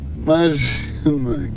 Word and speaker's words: imagina: I'm looking at is the quality of the vowel in the second syllable, imagina. Paying attention to how much of an E versus an I, or somewhere in there it is, and tuning that.